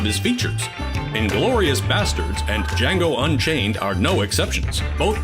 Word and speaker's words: Django: The Django! You black son of a bitch! The D is silent here, baby.